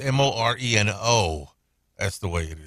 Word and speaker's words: moreno: By the way, she said brown is when you say brown eyes, moreno, where you roll your R's.